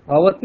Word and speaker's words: ভবতী: 100% স্যার এটা ভবতি ভবতি উচ্চারণটা কি ভবতি হ্যাঁ ভবতি তি আবার দীর্ঘই শেষে তিটা দীর্ঘ এমনি যদি আমরা ভার্ব